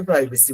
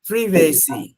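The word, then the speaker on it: privacy: দিয়েছি আমরা সবাই এটাকে প্রাইভেসি বলি কিন্তু এটার আসলে নাম হচ্ছে প্রিভেসি ফ্রি ভেসি কোথায় হচ্ছে প্রাইভেসি আর কোথায় হচ্ছে প্রিভেসি তো প্রিভেসি প্রাইভেসি আপনার মাথায় যদি প্রাইভেসি সেট করা থাকে ওরা যখন দ্রুত উচ্চারণ করে চলে যাবে আপনি কিন্তু বুঝবেন না এইজন্যই যেমন হচ্ছে ওরা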